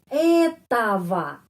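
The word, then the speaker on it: это: Oke, kenapa huruf O ini O ini menjadi A? Kenapa? Karena penekanan di sini bukan huruf O ini dan bukan huruf O ini yang mendapat penekanan ya.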